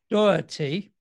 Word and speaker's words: Doherty: Matt Doherty, okay, pronouncing correct.